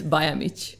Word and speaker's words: Bajamic: In reality, it's Bajamic.